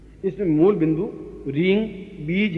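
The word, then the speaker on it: ह्रीं: इसमें मूल बिंदु रींग बीज है, ये अपना आप में महत्वपूर्ण है।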